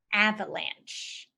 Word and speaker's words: avalanche: flood but with snow so to remember it use the sentence alpha and she ran from the avalanche a VII and she